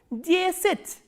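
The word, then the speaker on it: десять: For 10, the, ye, s, ya, t and soft sign, and stress is on ye again, and this ya is reduced. So, how will you pronounce this word? Jesit.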